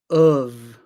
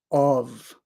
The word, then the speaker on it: of: Then we have of. Sometimes when people speak very clearly, they say of. But usually, most people pronounce this word of, of.